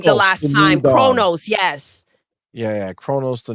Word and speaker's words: Kronos: it I said it wrong the last time Kronos yes yeah yeah Kronos the new dawn which